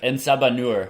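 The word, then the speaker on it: En Sabah Nur: Ensabanur. Ensabanur.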